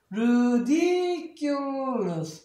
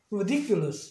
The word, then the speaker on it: ridiculous: 아까는 이 D도 플랩 사운드에서 명사일 때는 그러니까 리을처럼 발음하지만 이제는 액센트가 생기니까 다시 D 발음하는 거예요. 그 다음에 여기는 시와 사운드니까 르가 되는 거예요. 다시 얘가 아이의 시와 발음 으로 쓰니까 ridiculous 빨리 하면 ridiculous 이렇게 돼요.